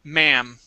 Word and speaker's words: ma'am: this is um uh this word right here it's a short for Madam okay um but the way that we say it is ma'am ma'am all right so no